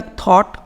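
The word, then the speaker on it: thought: इसका प्रोनाउंसिएशन होगा थिंक का थॉट, थॉट, ब्रिंग का ब्रॉट, ब्रॉट, बाई का बॉट, बॉट, सीक का शॉर्ट, शॉर्ट, फाइट का फॉट, फॉट, कैच का कॉट, कॉट, टीच का टॉट, टॉट।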